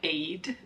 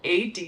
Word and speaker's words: Aeyde: and you were like calling them Aid shoes they're called ad shoes so we'll start with